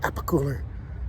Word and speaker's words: Alpicool: Alpicool, Alpicool, Alpicool.